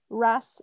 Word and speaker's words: wrasse: The wrasse. What was the name of the fish? Yeah. Wrasse, is it? Wrasse, which is spelled W-R-A-S-S.